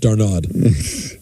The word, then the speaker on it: d'Arnaud: And I believe his name is pronounced d'Arnaud.